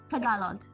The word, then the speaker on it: Tagalog: Tagalog.